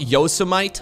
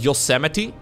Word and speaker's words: Yosemite: I figured out that this is pronounced not Yosemite, but Yosemite.